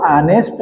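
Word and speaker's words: honest: जैसे आता है यहां पर an hour H ओ यू आर an hour an ऑनेस्ट एन ऑनेस्ट एच ओ ऑनेस्ट मैन an hour an ऑनेस्ट मैन इस तरह से यहां एन लग गया।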